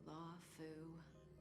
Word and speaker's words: Luofu: Have you guys heard of the Lawfu? Lawfu. That is not how I would have pronounced that.